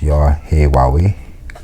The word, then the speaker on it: Yahweh: The word Lord is Yahweh, pronounced Yahweh, meaning I am.